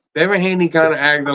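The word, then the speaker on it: Devin Haney: not them not they dein Haney let me say it right Devon Haney kind of acted like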